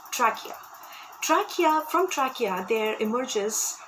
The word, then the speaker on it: trachea: pipe also called trachea please mind the pronunciations as well here it's called trachea trachea from trachea there